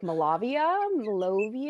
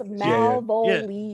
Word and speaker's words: Malvolia: They're like Malavia. Wow. I'm like, y'all, it's Malvolia. Yeah. Just add another syllable.